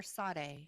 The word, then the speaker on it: Sade: Is it Sade or Sade? Sade. Yeah, I think I thought there was an H sound. It's a silent H that it's not even in there.